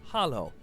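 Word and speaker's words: halló: hello in Icelandic is pronounced Hollow thank you is talk yes is yeah no is nay goodbye is bless bless 14.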